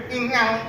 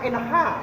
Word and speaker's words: ingang: Nah ini guys, ingang. Ini Bacanya ingang. ini dibacanya inha. Oh, bacanya inha guys.